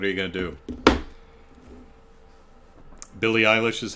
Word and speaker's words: Eilish: yeah phones what are you gon to do Billy eyh is how you pronounce it okay reim trading hello Chicago hello